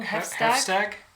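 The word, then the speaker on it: Heafstaag: Pronouncing it the Nordic way or whatever.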